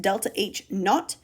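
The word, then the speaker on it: ΔH°: This is actually pronounced delta H naught, where the little 0 is pronounced as naught.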